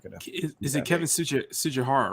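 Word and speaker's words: Tsujihara: CEO, Kevin, and I always forget how to pronounce his name, so I'm not going to. Is it Kevin Sujihara, right?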